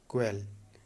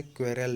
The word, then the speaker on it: quarrel: करना, QUARREL, ठीक है, QUARREL, क्वेल, स्टैंडर्ड में पढ़ना है तो क्वेल पढ़ सकते हैं, ऐसे क्वेरल भी पढ़ सकते हैं, ठीक है, क्वेरल।